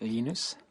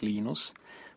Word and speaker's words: Linus: I speak Swedish it's enus when I speak Finnish it's lenos when I speak English it's lonus and I really don't care how people pronounce my name but Linux is always